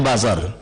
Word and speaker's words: buzzer: situ ada masyarakat lantas busernya luar biasa buser-busernya tolong dihentikan buzer tulisannya buzzer bacanya bazar luar biasa menyerang seolah-olah